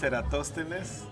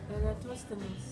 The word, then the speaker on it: Eratosthenes: And, you know, to say your name, I haven't seen it, so I can't pronounce it. Yeah, my name is Eratosthenes. Eratosthenes.